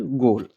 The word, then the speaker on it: goal: जैसे COAL कोल, COAT coat, LOAN loan, TOAD toad, GOAL गोल।